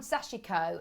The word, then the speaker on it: sashiko: of messages saying it's got three syllables it's called sashiko i think there's a